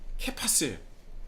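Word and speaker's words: Κηφᾶς: 시몬이니 장차 자 개발을 헬라어로 발음을 한다면 케파스예요 뭐라고요 바로 반석이라는 말입니다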